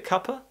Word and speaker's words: cuppa: So here we have the sound, which again, we're slightly pulling the tongue back. We don't want ka, we want ka. And also, we have a schwa sound at the end.